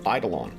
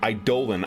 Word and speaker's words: Eidolon: uh flying city called eidolon and eidolon oh sorry idolan i actually only learned how to properly pronounce that word this week i was listening to a gene wolfe novel on um things and they said i dole on i dolen and i'm like is that how that word's supposed to